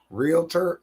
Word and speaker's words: realtor: sh i'll do that realtor only has two syllables not realtor realtor realtor